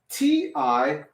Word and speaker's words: ti: think about that everybody if m i is pronounced me if we say it like me right t i would be what if you said t t